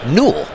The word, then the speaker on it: Newell: And if you're playing pickleball trivia at home, how you pronounce Ben's last name is Newell.